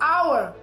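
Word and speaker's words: hour: hp são gr eu uso a simple our que é hora o h é mudo seu uso é tá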